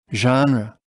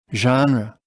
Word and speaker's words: genre: YouTube on screen look listen and repeat genre genre genre and now take a look at the picture